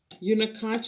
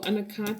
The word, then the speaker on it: unakite: Unikite or unakite. Some people have different ways of pronouncing it.